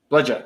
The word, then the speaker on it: bludger: Is that how do you pronounce it? Bludger.